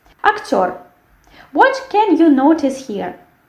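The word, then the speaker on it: актёр: The same thing. We have the stress which falls on the last syllable, and we have this firm sound r. Yes, actor, not actor, and not r. We have r.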